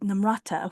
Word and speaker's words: Namata: our episodes with with Namata, who which I always trying to pronounce correctly. I think with with namata it's because the emphasis is on the first syllable and I think that's not natural to maybe most Americans.